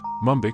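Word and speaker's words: Mumbaikar: controversial a resident of Mumbai is called mumbiker pronounced mumik in Mora in which the suffix car means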